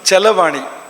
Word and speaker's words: ಚರವಾಣಿ: ಚರವಾಣಿ ತುಂಬಾ ಸುಂದರವಾದ ಶಬ್ದ ಚರವಾಣಿ ಚಲವಾಣಿ ಎರಡು ಆಗಬಹುದು ರ ಉಚ್ಚಾರ ಮಾಡಕೆ ಕಷ್ಟ ನೀವು ಲಾ ಬಂದರೆ ರಲಯೋ ರಭೇದ ಅಂತ ಸಂಸ್ಕೃತದಲ್ಲಿ ನಿಯಮ ಇದೆರಕುಲ ಒಂದೇ ಅರ್ಥ ಅಂತ ಇಲ್ಲಿ ಅರ್ಥ ಕೂಡ ಚಲವಾಣಿ ಅಂದ್ರು ಕೂಡ ಅದೇ ಅರ್ಥವನ್ನ ಕೊಡುತ್ತದೆ ಅದು ಅಂತ ಬಳಸಬಹುದು ಅಂತ ಚರದೂರವಾಣಿ